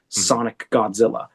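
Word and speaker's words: Sonic X Godzilla: And while all that was going on, the entire time I was working on my beautiful, almost 4-year-old child, Sonic Godzilla. We don't pronounce the X.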